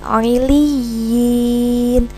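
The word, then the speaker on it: عِلِّيِّينَ: Ingat, cara bacanya dibaca panjang dua harokat dengan dimantapkan, ditegaskan bunyi ya bertasydidnya.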